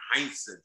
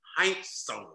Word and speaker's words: Heinsohn: his name he said that's not my name tommy heinsohn it's tommy heintz he said the only